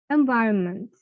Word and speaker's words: environment: Iron বলছি না, আরটাকে আমি সাইলেন্ট করে দিচ্ছি। Iron, iron. The second one, environment, environment, environment, not environment.